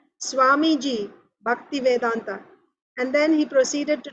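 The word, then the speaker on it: Bhaktivedanta: He said, Swamiji, Bhakti Vedanta.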